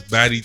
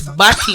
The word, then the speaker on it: Bati: No, he said it's baddie time. Yeah, but it's Bati.